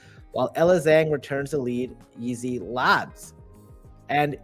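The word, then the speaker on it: YZi Labs: elang Returns the lead easy labs and it's pronounced as easy Labs even though it's like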